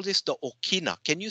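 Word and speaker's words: ʻokina: We call this the Okina.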